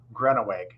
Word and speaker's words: Groeneweg: pronounced it right, but I also know I mispronounced it twice. How do you say your last name? Groeneweg.